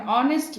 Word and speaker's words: honest: becomes a verbal sound as and are an honest man and Ardley visit we use and before